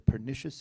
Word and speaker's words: pernicious: The doctors finally eradicated the pernicious infection from the patient's lungs.